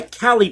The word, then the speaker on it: Callie: This is by Callie Patterson. Came out yesterday. I believe that's how you pronounce her first name.